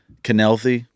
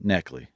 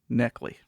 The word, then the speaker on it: Knechtly: ask that question uh canelthy just that's that that's the way everybody says it but it's actually supposed to be neckley neckly that's it the k is silent people where'd you get